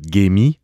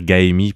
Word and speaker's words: Gaemi: Mais souvent on en en occidental on va dire Gaemi parce qu'en fait ça s'écrit G A E M I mais le AE en coréen se prononce e.